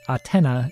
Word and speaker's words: Athena: other snk games notably the nes game athena pronounced atena in japanese and as a character in king